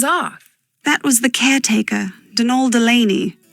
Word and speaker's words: Donal: that was the caretaker denal Delaney not Donald mind you there's no D at the end so it's pronounced denal